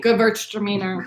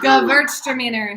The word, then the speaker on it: Gewürztraminer: Number 2 is, in fact, undoubtedly, without question, a Gewürztraminer. This is Gewürztraminer. So that's how it's pronounced. Everyone in your living room, say it along with me, please. The W is a V, so it's Gewürztraminer.